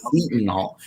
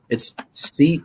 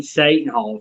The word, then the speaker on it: Seton Hall: how it was pronounced. Seton Hall. It's Seton.